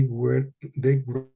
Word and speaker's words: wreak: They wreaked havoc They on wreaked havoc. This is a difficult word and it's pronounced wreak, wreaked or okay, wreaked. They wreaked wreak havoc.